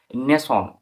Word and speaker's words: nation: এখানে নেসন নেসন বানানটা দিকে ফলো করো এন এ টি আই